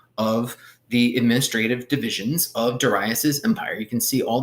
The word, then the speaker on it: Darius: Another strategy that Darius the Great had for, by the way, his name is Darius. Pronounce it Darius.